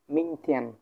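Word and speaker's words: 明天: তারপর আমরা পাইতেছি কি, মিং থিয়ান, মিং মিং থিয়ান, মিং থিয়ান মানে হচ্ছে আগামীকাল, মিং থিয়ান মানে কি?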